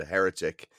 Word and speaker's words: heretic: Yeah, I don't like the way you said heretic. How did I say it? Heretic. Heretic. You'd pronounce the T like a D.